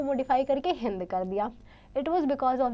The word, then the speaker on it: हिंदू: नाम को मॉडिफाई करके हिंद। इट was because of the river Sindhu. River Sindhu की वजह से हुआ था बच्चों ये। Now Sanskrit word Sindhu was pronounced हिंदू in Persian.